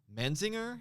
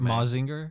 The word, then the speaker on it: Mazinger: Menzinger, is that how you pronounce it? Manzinger. It's like a mecha. Is it Mazinger? Yeah. Yeah. Mazinger Z.